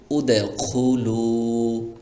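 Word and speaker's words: ادخلوا: এটার উচ্চারণ হবে উদখুলু, এভাবে। তারপরে যে জায়গাটি আপনাকে মনে রাখতে হবে সেটি হলো 30 নাম্বার পারা।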